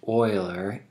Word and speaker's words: Euler: about eulerian graphs so that is pronounced euler e-u-l-e-r named after a famous mathematician leonard euler